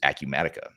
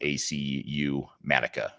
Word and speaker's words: Acumatica: And that runner-up is Acumatica. So if you're not familiar with them, it's spelled ACU-Matica, one C in the spelling there.